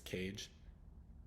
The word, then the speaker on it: cage: there at the end the next example is cage again the soft G uh the a sound because the uh the E is there if the E wasn't there if it was just c a g it'd be Cog Cog K Cog something like